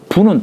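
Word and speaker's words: 復: 근데 여유 부하자이면 만약에 부는 다시 부자예요. 회복할부자 회복할 복자를 다시 한다라고 할 때는 부라고 읽는다고 했죠.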